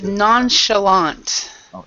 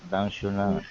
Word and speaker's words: nonchalant: How do you pronounce the first word? It's nonchalant. Nonchalant.